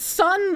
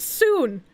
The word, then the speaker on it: Son: ] Ass American brain sees the word sun and instead of pronouncing it sun like I should I pronounce it soon and why do I do that why do I have brain damage like I I know I know I should be pronouncing it sun but my brain just goes oh their name is sun and they are South Korean therefore I should say soon but why does it